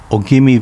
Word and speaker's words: Ogimi: Ogimi Village, pronounced Ujimi in Uchinaguchi.